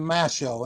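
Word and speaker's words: Mashow: the story of John Masho. And that is spelled M A S H O L as as in show.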